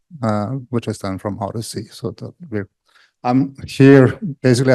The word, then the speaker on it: OHDSI: an open source uh stands for observational Health Data sciences and informatics uh but we like to pronounce it Odyssey uh it's an open